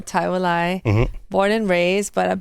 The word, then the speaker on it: ThaiWilai: We officially locked in, and I got a special guest in the building, thaiwilai. Is that how you say it? Am I saying it right? Yes, thaiwilai.